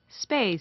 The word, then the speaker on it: space: 뒤에 역시 space가 아니고 침이 툭 튀기시는 게 아니라 space 이렇게 발음이 되죠. 빠 사운드가 됩니다. 바람 소리가 빠져요.